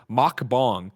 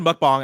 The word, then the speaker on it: mukbang: big bad beluga says the correct pronunciation is makbong just like blessing said chat is uncultured angry wow i've expressed a lot of things i when i said mukbang i immediately was like